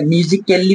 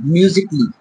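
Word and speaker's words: musically: কয়েকটা এক্সাম্পল নেওয়ার চেষ্টা করব, যেরকম অনেকজন হয়তো এটাকে মিউজিক্যালি পড়ে, বাট না, এটা এটা সাইলেন্ট, মিউজিকলি।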